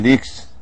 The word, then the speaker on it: leaks: of the question yes the underline letter S and the word leaks you see leaks leaks has the same pronunciation of the letter s in the words we have here s s you have s s so leaks the same s the same as in hats but here to is